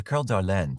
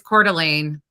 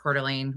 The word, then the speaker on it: Coeur d'Alene: they enjoyed a barbecue it's Coeur d'Alene that's how it's pronounced it's spelled it's French I think is what it is and it's pronounced Coeur d'Alene we refer to it